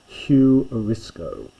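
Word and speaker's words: εὑρίσκω: So s the oi difficult one here hugh notice the hard breathing. So it's hurisiscoco huriscoco and that means I find English word huristics where you're trying to discover something so huriscoco I find extremely common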